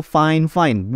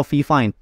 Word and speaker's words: FIFINE: saran dari marketingnya sendiri dibacanya atau di pronounce-nya yaitu fine-fine bukan Vivin atau V5 so jadi kali ini